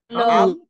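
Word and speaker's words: الله: হবে কোনটা হবে ল হবে ল হবে যেহেতু আল্লাহ শব্দের আগে এখানে জবর আছে যেহেতু জবর আছে এজন্য লা হবে না ল হবে মোটা হবে মুখ ভৌর আওয়াজ আসবে তো এখানে কি হবে আল পড়েন পড়েন আল্লাহ হ্যাঁ লম্বা আল্লাহ তারপর হচ্ছে হু আল্লাহ ল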